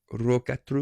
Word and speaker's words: Rokkatru: Rokkatru. You got to roll your Rs.